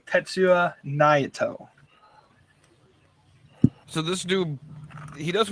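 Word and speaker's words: Tetsuya Naito: Su y a n a i t o tetsu Nao so this dude he does what he at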